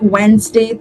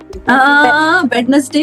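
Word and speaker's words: Wednesday: So Monday, ट्यूसडे, वेडनेसडे, Thursday, Friday, Saturday, Sunday. Yuvraj please pronounce all of these for us. Monday, ट्यूसडे, वेडनेसडे, वेडनेसडे। नो नो नो नो नॉट वेडनेसडे वेडनेसडे या वेडनेसडे Thursday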